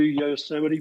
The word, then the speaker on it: Yosemite: So we drove there, and after that we drove to Yosemite Park. Did I pronounce it correctly? Yes, Yosemite you did.